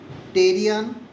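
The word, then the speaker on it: pterion: From outer surface we'll be able to see bregma lambda terrion and asterion. Terrion already I have said t e r i o n terrion p is silent.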